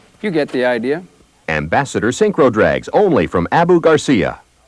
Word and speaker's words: Synchro: I'll spell it out. Sync. Crow. Synchro.